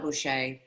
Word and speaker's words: Boucher: bringing back Chef Rachelle Boucher, not to be matched by anyone doing lobster rolls. Notice that I did not pronounce the ER, but the appropriate AH at the end.